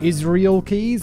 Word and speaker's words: Israel Keys: dude's name like i we say his name is like the country like israel and i know americans say israel so i don't know if it's israel keys or israel keys um i'm definitely probably